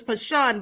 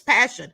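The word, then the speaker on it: Pashun: all very sad and I pronounced the mother's name is pashan but it's passion it's spelled p-a-s-h-u-n it looks like pashan but nevertheless this is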